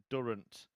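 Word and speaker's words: Durrant: I've just had a a nice helpful message my researcher a man called something Durant ring about rhymes with current yeah I think I've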